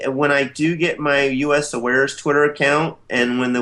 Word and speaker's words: USAwares: This is how they're pronouncing it, is USAwares.